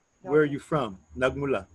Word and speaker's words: nagmula: So in Filipino, the A's and the E's and the I's, they all sound the same in any word that you say. And the thing is, the vowels are always fast and they're tight. So like saan, ka, nagmula. So it's tight.